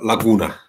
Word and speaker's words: laguna: is fairly obvious that what we have here is stress of the second syllable counting from the beginning of the word is a quite uncommon